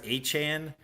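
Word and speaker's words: Etienne: and there are like he he's going by achan and people say it's rude to not call him Travis Achan.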